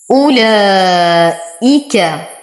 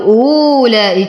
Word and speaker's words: أولئك: أولئك، وتم ضمة الهمزة. هذه الواو أجد فوقها الصفر المستدير فهي لا تنطق، فلا أقول أولئك وهذا خطأ.